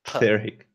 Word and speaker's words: Pyrrhic: Just forget the f and just go Pyrrhic.